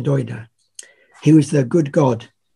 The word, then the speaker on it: Dagda: There's a god called the Doida, although it's spelled the Dagda, but it's pronounced the Doida.